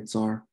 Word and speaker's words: tsar: I don't know how to pronounce it correctly in Russian, but in English we say tsar, like when we spell it C-Z, okay?